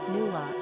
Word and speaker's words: Nuala: Pronounced Nula is the Gaelic diminutive equivalent.